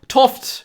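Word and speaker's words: 't Hooft: fight pseudo science and stuff like that now tof and this is you know it's a Dutch name it's spelled like apostrophe T and then space h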